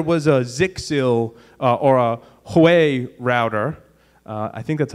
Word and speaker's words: Huawei: so say there was a zixil or a Huawei router I think that's how you pronounce that that had that you knew had some what is it Huawei thank you a Huawei router that had some